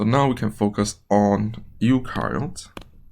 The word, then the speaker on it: eukaryotes: So now we can focus on eukaryotes. Right, Eu rhymes with new, so it has a nucleus.